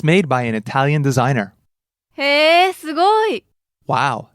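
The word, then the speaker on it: イタリア: First word, Italia. Italy and low to high, right? Italia.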